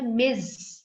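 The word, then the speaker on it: Ms: एस small लिखना है, उसे प्रोनाउंस करते हैं मिज, ज साउंड, जी की साउंड आती है जेड की, लेकिन लिखते हैं एम एस डॉट, एम capital एस छोटा,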